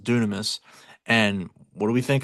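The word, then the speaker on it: δύναμις: And Jesus, the word power that that is written there, the word power means uh it's spelled dynamis, but it's pronounced dunamis.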